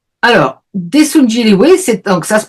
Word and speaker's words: Jinrihoe: Alors desun Jiliway c'est donc ça se prononce jillyw parce que le R les Coréens n'ont pas de R, c'est un son entre le R et le L.